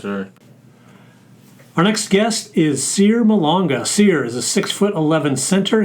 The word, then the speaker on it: Cyr Malonga: Our next guest is Cyr Malonga. Cyr is a 6'11" center. He is from Pointe Noire, Congo. Did I pronounce that right?